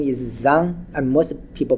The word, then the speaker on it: Zhang: name last name is Zhang and most people pronounce but in China is done and it's very difficult for Americans to pronounce because it started with z okay not many words